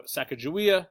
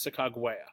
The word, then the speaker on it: Sacagawea: wife Sacagawea yes probably no Sacagawea the proper pronunciation is SiC agua she serves more as